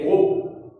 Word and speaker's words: crocs: Ce sont des animaux portant à la mâchoire supérieure des crocs. La lettre C finale ne se prononce pas. On dit un gros, des crocs avec S.